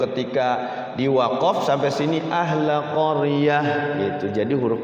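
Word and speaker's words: قرية: Tidak boleh dibaca ahla qaryat. Tidak boleh, tapi dibacanya ahla qaryah. Jadi tamarbuto itu ketika diwaqaf jadinya huruf H.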